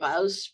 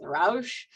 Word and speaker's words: Ruysch: we're talking about today has a particularly challenging name for non-Dutch speakers, that UI diphthong. I can't even pretend to say it correctly. I usually go with Ruysch.